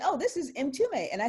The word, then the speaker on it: Mtume: introduced us and she said oh this is m2me and i said are you james m-t-u-m-e because